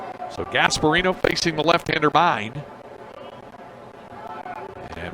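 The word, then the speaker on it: Myn: 3 nothing so RJ mine who spells it m y n but pronounce mine like yours and mine is on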